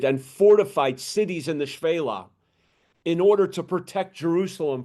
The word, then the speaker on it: Shephelah: And it sounds like it's Shephelah, but I did look up the pronunciation of this, and it's pronounced Shphelah.